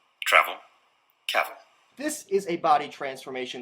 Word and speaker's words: Cavill: Now, Henry Cavill, on the other hand, Cavill is pronounced like travel. Travel. Cavill.